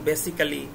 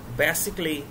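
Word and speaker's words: basically: আমরা ক্যালি বলি যেমন বেসিক্যালি ড্রামাটিক্যালি এরকম বলি এটা উচ্চারণ ভুল এগুলোর উচ্চারণ হবে ক্লি বেসিকলি ড্রামেটিকলি এরকম আবার যেমন টি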